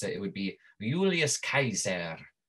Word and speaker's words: Julius Caesar: But it's pronounced not J, it's pronounced Y, right?